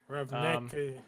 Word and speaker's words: Ravnica: Ravnica.